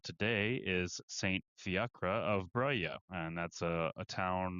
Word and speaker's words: Breuil: is Saint Fiacre of Breuil. And that's a a town or a commune in France. I believe I'm pronouncing that right, according to Google, but the spelling definitely does not look like that.